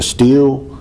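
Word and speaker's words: Stihl: going to pronounce this a steel is that a s-t-i-h-a-l right yes so it was missing he had three chainsaws the steel was missing see if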